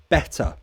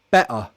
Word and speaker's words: better: you pronounce water better I will say water better there are two vowel sounds between the T so I pronounce it a true T water better however cockney might do it glottal e war are better oh wow crikey thanks